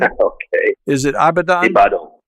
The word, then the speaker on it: Ibadan: David Ajibade received his medical degree from the University of, now I'm not going to pronounce this right, David, Ibadan. Okay. Is it Ibadan? Ibadan.